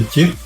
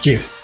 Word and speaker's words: GIF: Hero says, sounds like a pillock if you pronounced it with a GIF, with a J. Well, that's he created it. He said you should pronounce it with a J. GIF.